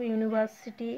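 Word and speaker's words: university: দিয়ে শুরু ভায়োল কনসোনেন্ট কিন্তু ইউ এর উচ্চারণ ইউর মতো হলে তার আগে এ বসবে যেরকম ইউনিভার্সিটি এই উদাহরণ কটা মনে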